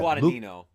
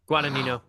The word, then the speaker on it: Guadagnino: Guadagnino. Guadagnino.